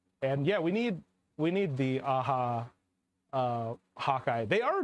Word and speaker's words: Aja: That's the artist's last name. It's David AHA. Oh, okay. Oh, okay. I was Or like, what? I don't know this term. AJA is how it's spelled.